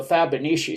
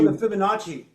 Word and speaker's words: Fibonacci: That's called the Fabonici series. It is the Fibonacci.